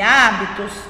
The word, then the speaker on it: hábitos: A letra H não tem som quando inicia a palavra. Então, quando a gente fala, né, humanos e hábitos, o H não tem som. Parece ser, né, o som do U em humanos e parece ser o som do A em hábitos.